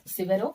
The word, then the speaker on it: Severo: form next another person severo i pronounce this one as sivero okay you can pronounce